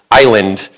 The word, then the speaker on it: island: But for whatever reason in English you pronounce this word island because it has a silent s because that's one of the difficulties of learning English.